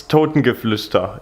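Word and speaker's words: Totengeflüster: It's Totengefluster in German.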